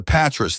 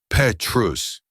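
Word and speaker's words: Pétrus: She pronounced it correctly. Petrus. The S silent, the vowels pure.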